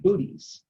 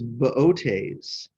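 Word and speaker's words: Boötes: up here the oceans it looks like booties but it's the otas i believe there's an umlaut there so uh so that was arcturus and the constellation is botes or i believe the second o has an umlaut not every day you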